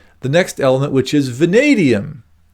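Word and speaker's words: vanadium: next element which is vadium which by the way rhymes with stadium so it's a good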